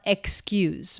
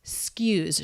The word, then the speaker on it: excuse: everyone stress on skews notice the word is not excuse but it's skews she turns it into one syllable this is pretty common so the letter x here represents two sounds k and s excuse but it's not uncommon to drop the first vowel and drop the k and just say skews skews s sound k